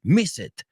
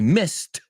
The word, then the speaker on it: missed: those people that says miss it I miss it the class because no that e is not pronounced it's pronounced more well not more it is a t i missed the class he missed